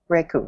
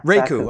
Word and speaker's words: raku: you discovered um uh raku raku it's pronounced right riku yeah raku okay i'm not cool